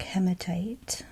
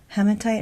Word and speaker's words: hematite: This one is a Zambian black hematite. Hematite or hematite. I've heard it pronounced both ways. I like to say hematite.